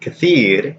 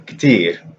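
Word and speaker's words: كثير: So for example, the word kathir in Fusha, in Ammiya it's still katir. So the long I is still there and it still sounds like an I, as opposed to bait, which now sounds like an E.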